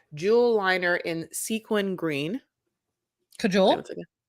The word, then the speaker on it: Kajal: Cajole? Yeah, that's how you say it.